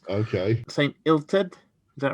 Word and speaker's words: Illtyd: Basically, in Welsh, the letter Y and the letter U got inverted pronunciation. If it's a Y, you pronounce it the way that the English would pronounce a U. If it's a U, you pronounce it the way you pronounce a Y. So I'd say it would be Illtyd.